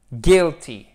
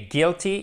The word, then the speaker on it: guilty: Et guilty, et on ne prononce pas le U, faites bien attention, guilty, guilty, guilty, guilty, c'est coupable, he is guilty.